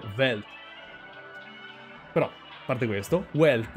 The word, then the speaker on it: Welt: per la parola world, sarebbe Welt, perché in tedesco la W si legge V, non W, non è Welt, sarebbe Welt.